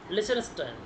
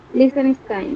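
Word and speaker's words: Liechtenstein: তো প্রথমে মাঝখানে টিটা উচ্চারণ করবা না, লিচেনস্টাইন, লিচেনস্টাইন।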